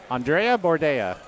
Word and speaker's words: Andreea Bordea: Andrea. Bordea. Yes. Andrea Bordea. Do they rhyme? Uh, yes.